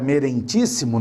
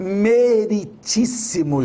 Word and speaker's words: meritíssimo: dizer assim meritíssimo juiz a palavra merentes imo não existe é só o meritíssimo juiz certo aprendemos mais essa